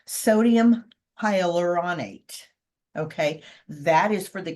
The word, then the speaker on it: sodium hyaluronate: extract sodium H now let me let me pronounce this right sodium hyaluronate okay that is for the conditioning and um